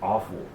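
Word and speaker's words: offal: thinking certain French come they call it awful they spell it o f f a l but it was awful a WF u l you know uh but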